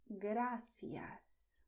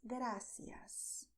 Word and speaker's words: gracias: But if you go to Spanish-speaking countries in Latin America, people do not lisp. Okay, so in Latin America, people say gracias. Both are correct. Gracias, gracias.